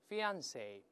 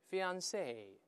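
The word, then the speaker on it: fiancé: 音一样，也是两个重音在中间，在最后都行。大声那边，fiance， fiance 都可以，这是未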